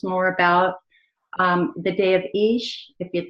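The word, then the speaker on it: Ix: And by the way, Ish is spelled I''X, but spelled out EEESH or thereabout. Would you correct me? That's correct. It's Ish.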